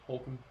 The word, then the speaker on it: Holcomb: Then you have Cole Holcomb, or Hulk, is how you say it correct? Holcomb.